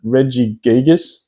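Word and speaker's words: Regigigas: to pick a prom I'd probably go the Reggie gigas that's exactly how you pronounce it only $13.40 is current market price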